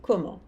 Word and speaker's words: comment: O S não se pronuncia, comment? O T não se pronuncia. Elles vont à Paris comment? Fazendo a pergunta com est-ce que, eu começo pela palavra interrogativa, que é comment.